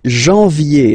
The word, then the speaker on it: janvier: But anyway, janvier, so that's the way to pronounce it. Janvier, A-N, en, okay, and then ye, janvier.